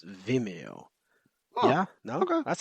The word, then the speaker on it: Vimeo: Like instead of video, it's Vimeo.